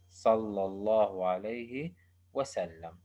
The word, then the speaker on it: صلى الله عليه وسلم: Uh, some some words or some acronyms are written, but they are not pronounced as acronyms. For example, صلعمة. احنا بنكتبها، ممكن احنا نكتبها صلعمة بس ما بنلفظها صلعمة. We usually pronounce it as صلى الله عليه وسلم.